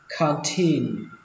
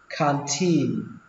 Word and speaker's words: canteen: Căng tin đọc là canteen, xuống giọng âm đầu tiên và lên giọng âm tin, canteen canteen.